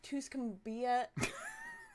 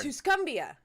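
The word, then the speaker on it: Tuscumbia: point clue this woman was born in West tuscumia I'm sorry tusumbia tusumbia you had the right pronunciation my laugh was unrelated Alabama in 1880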